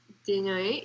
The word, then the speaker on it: Desnoyers: French. I don't think the S is pronounced. Desnoyers?